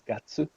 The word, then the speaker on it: 月: So for counting, for actually counting the months, Amanda, remember it's not getsu, but it's gatsu.